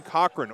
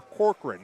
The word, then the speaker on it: Corcoran: deficit there Templeton playing Cochrane or Corcoran depending on who you are and how much uh you want to really put an emphasis on the wrong syllable uh they Trail 14-7